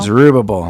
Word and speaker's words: Zerubbabel: Zerubbabel, there we go.